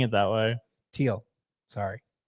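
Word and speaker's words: Thiel: the whole video apparently why do you have an H there bro yeah get rid of the H if you want say correctly come on ah so speaking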